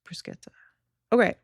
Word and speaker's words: bruschetta: Bruschetta. Okay.